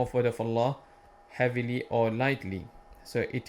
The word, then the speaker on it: Allah: We have to tell them the back of their tongue should be hitting or touching the top of the mouth. Allah, Allah.